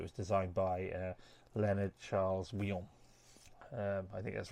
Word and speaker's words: Wyon: And this side was designed is a second rendition of Victoria, and it was designed by Leonard Charles Wyon. I think that's right. How to pronounce the Wyon?